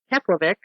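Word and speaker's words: Keflavík: his home drove to the harbor cafe in keplervik and vanished into thin air very good that's an exact pronunciation it is you know yeah um his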